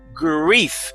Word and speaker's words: grief: Oui, mais le R là, on t'y prononcé avec langue courbée, ou je peux dire grief. Parce que son R, c'est E. So, grief. Greffe. Parce que c'est I, c'est son I, ou va dire grief.